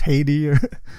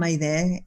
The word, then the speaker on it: Haydee: Haydee is how it's pronounced in French, and that was the original spelling of the name. But no, in Spanish, I'm Haydee.